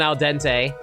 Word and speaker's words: al dente: Yeah, I get it's a pun on al dente. I know it's pronounced al dente, guys.